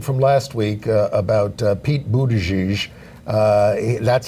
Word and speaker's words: Buttigieg: We have a correction from last week about Pete Buttigieg.